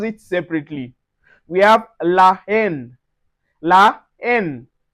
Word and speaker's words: la haine: We have la haine. La haine. So, we don't say l'haine. On dit la haine.